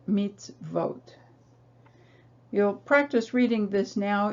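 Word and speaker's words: מצוות: said, with the consonant, and so that vav has to be a v. So again, we have the word mitzvot.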